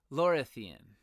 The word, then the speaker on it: Lorathian: It is Lorathian. Lorathea. And Lorathian would be of Lorathea. So it's Lorathian.